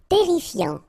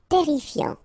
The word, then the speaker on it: terrifiant: Terrifiant. Final T not pronounced. Double R here, so it will open the pronunciation of your E, and then it will be E. Terrifiant.